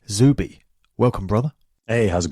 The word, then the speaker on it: Zuby: book called strong advice it's z-u-b-y zooby welcome brother hey how's